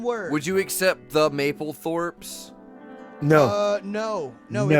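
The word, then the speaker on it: Maplethorpe: theoretical band name is mapleth wa I I didn't pronounce that correctly it's one word Maple Maple Thorp like like the photographer yeah Mike alpha papa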